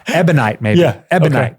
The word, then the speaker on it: ebonite: It's called like ebionite or something. Okay. Ebonite rod. Man, I'm saying it wrong. Like the ebionites is an S-scene group, but like I'm getting 2 words confused. Ebonite, maybe. Yeah. Ebonite.